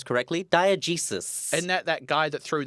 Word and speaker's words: diegesis: we're talking about a word that I will pronounce correctly: diegesis. Isn't that guy that threw that chicken at Socrates? Diegesis, not diegesis.